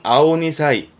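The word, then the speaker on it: 青二才: 발음은 아오니사이. 아직은 퍼런, 덜 익은 2살 배기다 하는 뜻이거든요. 풋내기, 애송이. 풋내기나 애송이를 빗대어서 아오니사이라고 씁니다. 참고해둘 만한 단어입니다.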